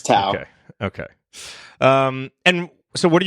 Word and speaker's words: Tow: Okay, so it's Tao, not Toe. Yes, it's Tao.